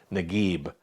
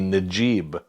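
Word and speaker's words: Naguib: g a ge so nagib but in southern egypt and throughout much of the rest of the arab world it would be najib they pronounced it that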